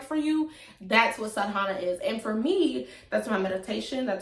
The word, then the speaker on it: sadhana: ask so what is sahana i know i say it wrong it's sadana sadhana i'm gonna say how i